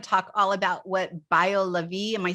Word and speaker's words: BioLaVie: now i want to talk all about what bio levy am i saying it right yes i want